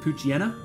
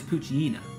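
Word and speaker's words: Poochyena: saying as a child I always pronounced it poen um but it is definitely supposed to be a hyena so I imagine it's poina right wouldn't you say um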